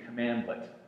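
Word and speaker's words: cmdlet: what category are they it's a cmdl commandlet is how it's pronounced that word was invented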